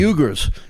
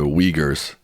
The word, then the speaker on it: Uyghurs: I think they're pronounced the Uyghurs. Uyghurs.